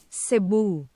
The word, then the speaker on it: Cebu: So I I want to know how to pronounce that. Sabu. Seeu.